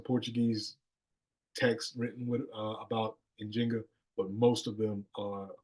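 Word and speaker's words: Njinga: refer to her as in Jinga that's a more accurate way of pronouncing her name uh so I'm GNA try to say in Jinga a lot but I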